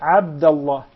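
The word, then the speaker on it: عبد الله: Exactly, especially your name begins with the ayn. Okay. What normally happens is it is mispronounced by non-Arab speakers by saying a. Yes. And this is how they write it in English, Yeah. Yeah. double A. Okay? A. Ah. A. Ah. But pressing the throat so that it will come properly.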